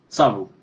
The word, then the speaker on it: Savu: That's why that's funny because like I think you remind me how to pronounce your name again? Savu.